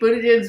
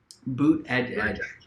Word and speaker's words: Buttigieg: What's Pete Buttigieg's website have?